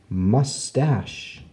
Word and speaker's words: mustache: from the ceiling so there's lots of words with ch where the CH makes the sh sound of shh let's write some down